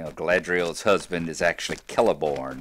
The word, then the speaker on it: Celeborn: stuff like that and I always called it celeborn and celebrant door and all those kind of